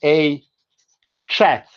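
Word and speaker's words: ei chath: But if it's her cat, you don't say a gath, you say a chat.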